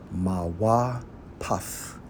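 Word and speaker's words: מוֹפֵת: Strong's H 4159 pronounced as Mawa Paf, right?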